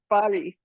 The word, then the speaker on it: Fari: fari and the pronunciation proper pronunciation of far's name is fari not something else she she was joking